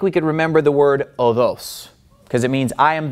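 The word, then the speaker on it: ὁδός: And again, we're using modern Greek pronunciation, so we're ignoring the breathing marks, which are no longer pronounced. So, how do you think we could remember the word odos?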